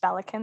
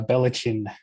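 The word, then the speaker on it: Ballechin: who aren't familiar you're with balikin it is pronounced bellicon that one i do have down pat thankfully um though i do enjoy people mispronouncing it um the the aussie way is uh belichin yeah yeah that's not the worst way to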